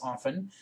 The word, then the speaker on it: often: Mind the O of often, often, which may be pronounced as often, with the sound of saw and sauce, also soft, lost cloth, and cross.